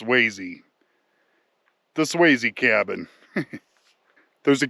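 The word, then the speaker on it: Swasey: Did I say S Swazy again? I meant sees. Somebody told me it's pronounced sees.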